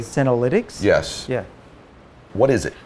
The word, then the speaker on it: senolytics: So, uh, I want to make sure I pronounce it right. Cinnolinics. Am I saying that correctly? Senolytics.